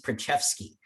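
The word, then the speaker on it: Preczewski: hard to pronounce but one trick if you want to know how to pronounce a case is you pull out the oral argument you see how the chief pronounced it uh and he pronounced this one uh usa bionum versus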